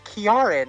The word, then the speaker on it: Kieran: It's Kiaran as a name. It's a hard K sound.